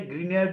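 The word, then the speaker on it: Grignard: উৎপন্ন হচ্ছে আর সবশেষে গ্রিনয়ার্ড বিকারক থেকে যদিও এখানে গ্রিগনার্ড বিকারক লেখা হয়েছে আসলে উনার নাম হচ্ছে উচ্চারণ হচ্ছে গ্রিনিয়ার্ড ভিক্টর গ্রিনয়ার্ড হচ্ছে এই বিকারকের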